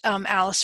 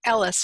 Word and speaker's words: Ellis: And thank you so much, Alice, for I keep saying your name wrong. Ellis, for Allyn.